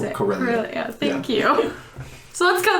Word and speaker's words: Corellia: I can't pronounce it. Corellia.